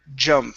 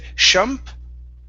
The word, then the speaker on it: jump: up is the word jump now here you said shump okay it's J Jump like a I jump yeah like a j j sound okay so instead of